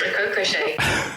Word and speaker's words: Ricochet: Do I pronounce this correctly? Ricochet? Yeah, that's perfect. Ricochet.